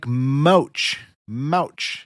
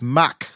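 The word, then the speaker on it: Mauch: but pronounce it like MCH MCH it's Mach like the air speed end quote thank you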